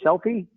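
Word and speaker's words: Selfe: name, Selfie? Yep. Pronounce it without the E, so it's just self, like yourself and myself.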